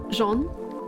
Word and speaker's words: Jean: Anyway, don't know where they're from, but it's pronounced like French. Jean.